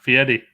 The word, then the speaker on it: Fieri: You say it like it's a D instead of an R. Fieri.